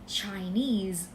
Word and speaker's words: Chinese: จีน เรา เรียก ว่า Chinese เน้น ที่ น โอเค ป่ะ พยางค์ สุด ท้าย นะ คะ Chinese เหมือน